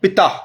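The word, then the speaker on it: Ptah: is actually uh the the pronunciation is like Pitta but the spelling is p-t-a-h who have got similarity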